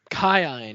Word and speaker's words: Kion: The the technical pronunciation is cine. Kion. Yeah. And we we again it's got the hard vowels. Yeah. Again, that we thought that was ridiculous, so we just went with Keen.